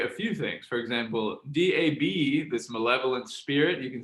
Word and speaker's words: dab: For example, DAB, this malevolent spirit, you can see on the slide here, DAB is pronounced da. The final B indicates the tone, in this case, high and level.